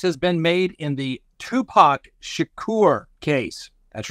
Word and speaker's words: Tupac: been made in the Tupac Shakur case that's right for all you amateurs out there it's not too packed it's Tupac we know better all